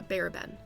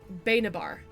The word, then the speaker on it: Bayabar: that name please yeah I actually pronounced it wrong it's bayabar uh bayabar the lightning of